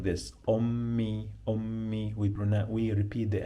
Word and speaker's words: أمي: We repeat here the M 2 times, okay, because of the pronunciation. Like when we add the possessive pronoun, so it is easier to pronounce it like this. Ummi.